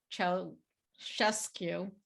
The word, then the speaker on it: Ceaușescu: It sounds dystopian, but this was the maniacal dynasty of dictator Nicolae Ceaușescu. I looked that up, how to pronounce it, a regime that more than 20 million Romanians endured while forcibly fenced off from the world.